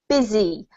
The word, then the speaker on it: busy: like busy right but we actually pronounce it busy with a zed sound and an i sounding vowel um which is really